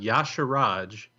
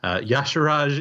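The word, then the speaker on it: Y'Shaarj: name I'll point you to the old God Yash Raj which is spelled if you don't know Wow lore or even hearthstone at this point Yash Raj is spelled why ' Sh á á rj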